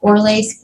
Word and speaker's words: Borlace: Borlace, b o r l a c e.